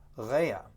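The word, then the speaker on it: רֵעַ: It's basically, it's two words that are spelled the same but they're pronounced differently and they come from different verbal roots, but they're very closely related. So here we have ra, spelled reish ein, and that means evil.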